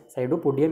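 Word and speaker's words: pseudopodium: पी यहाँ पर क्या होगा, साइलेंट रहेगा, सैडोपोडियम इसे कहा जाता है।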